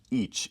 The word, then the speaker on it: İç: It's pronounced İç in Turkish.